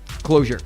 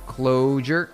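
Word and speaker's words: Clojure: Closure. So it's called uh closure like that. It's spelled weird.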